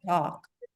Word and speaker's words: talk: somebody said talk talk it's like L is silent talk talk and this we